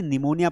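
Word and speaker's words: pneumonia: यहां पर पी जो है ना बेटा, बेसिकली साइलेंट है। पी क्या है? बेसिकली साइलेंट, इसे निमोनिया पढ़ा जाता है।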